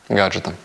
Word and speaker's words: gadgets: Comfy is #1 when it comes to electronics and gadgéts. Pronounce it correct! Sorry, gádgets.